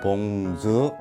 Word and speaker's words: bonjour: 일단은 한국어로 봉주르 그러잖아요. 그러면 삼음절이잖아요. 근데 사실은 이게 이음절이에요. 그래서 봉주 하고는 그냥 자음으로 끝나는 거고, 그래서 봉주 이렇게 이음절이고, 마지막에 이것도 이제 한국어에 없는 자음이다 보니까.